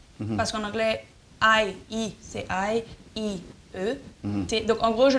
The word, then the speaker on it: Haïti: Donc en gros, je leur dis que je m'appelle IET. I-E-T. C'est la seule façon qu'il prononce ça, sinon il m'appelle Heidi. Non, ou dire c'est I-E-T pour hello? Oui, en anglais, quand tu prononces I-E-T, c'est I-E-T. Ce qui est le plus proche phonétiquement de mon nom.